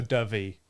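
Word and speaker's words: Dyfi: is pronounced So dovey. Like the bird dove, right?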